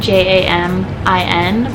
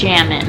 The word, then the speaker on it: Jamin: my husband's name written j-a-m-i-n people think it's jammin my husband's name is jamin j min what made you realize